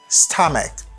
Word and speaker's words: stomach: Ouais, ça là, il prononce tant qu'on K. Stomach. My stomach hurts.